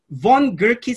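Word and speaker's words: von Gierke: colleagues who are with us okay this is pronounced von gurkey syndrome or von gurkey disease have you ever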